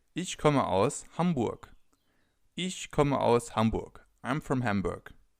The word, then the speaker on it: Hamburg: you could say is Hamburg. Is Hamburg. I'm from Hamburg. As you can already see or hear, some cities have a different pronunciation in German than they have in other languages.